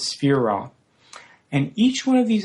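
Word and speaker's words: sefirah: They're called spirro in Hebrew. The singular pronunciation is spher.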